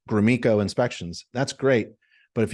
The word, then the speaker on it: Gromicko: And not a lot of people can pronounce or even spell Gromiko. There's no E in it, but I pronounce it Gromiko.